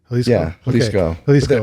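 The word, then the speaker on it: Jalisco: margar what's the margarit halisco yes is that how you say it halisco with an axe ax J yeah um we have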